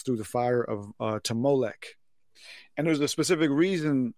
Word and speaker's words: Molech: And so, what they did was they took the Ammonite word Melech and inserted the O there, playfully using the same O pronunciation as their word Boseth, which means shame. And so they were saying, you don't have a Melech, you have a Molech.